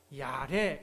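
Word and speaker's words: יָרֵא: 경외 히브리어로 야래 이렇게 발음하는데요. 무섭다는 그런 의미도 있지만 존경하고 경배하고 삶의 중심을 하나님께 드린다는 예배의 태도도 담겨 있습니다.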